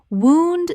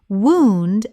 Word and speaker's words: wound: Wound, the injury. Wound rhymes with moon. Wound as past tense of to wind.